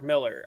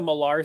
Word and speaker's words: Millar: for it too but I believe it's just Mark Miller I think the malar thing was just uh your boy Zach just pronouncing it wrong well I've heard it